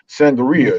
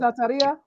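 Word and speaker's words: Santería: However, you know about it, whether you're into hoodoo, whether you're into voodoo, whether you're into sangria, and however, I keep pronouncing it wrong. Santeria. There you go.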